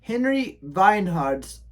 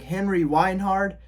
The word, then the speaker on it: Henry Weinhard: Because Henry Weinhard is a German American, and so with German, you pronounce the W's as V's.